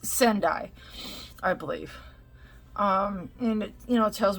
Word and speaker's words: Sendai: So it's Sendai, I believe.